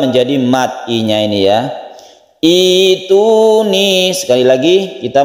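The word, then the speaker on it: ائتوني: Kalau kita memulainya dari sini, maka membacanya itu ituni, hamzahnya berubah menjadi ya sukun, berubah menjadi mat i-nya ini, ya. Ituni, sekali lagi kita membacanya ituni.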